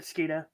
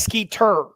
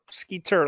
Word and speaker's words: Skeeter: It is Skeeter. Skeeter, like the bug.